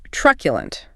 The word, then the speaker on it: truculent: Our next academic-sounding adjective is truculent. Truculent quad. Stress on the first syllable. That Q is like Q. The last syllable is a schwa.